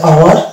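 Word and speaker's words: hour: জায়গাগুলোতে এইচ কিন্তু সাইলেন্ট হয়ে যাচ্ছে এবং ওর উচ্চারণ আসছে আওয়ার, ওয়ানেস্ট, ওয়ানার।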